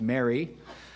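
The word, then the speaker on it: MARI: and financial institution quality the acronym m-a-r-i pronounced Mary he established in 1990.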